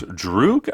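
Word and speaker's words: Druig: in the bunch uh it's druke i believe is uh the pronunciation of his name d-r-u-i-g that's right all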